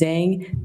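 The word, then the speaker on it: Zheng: That's spelled. Last name is Zang.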